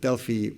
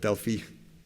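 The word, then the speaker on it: Delfi: late last year uh company called Deli not to be confused with our deliver study uh uh subcohort called delie spelled with a pH so Delia is a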